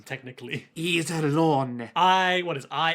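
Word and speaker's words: Iserlohn: say, "Today I learned it isn't eyes alone fortress as in eyes things on your face." Oh, cuz they've never read. Yeah, it's probably pronounced technically. Iselon.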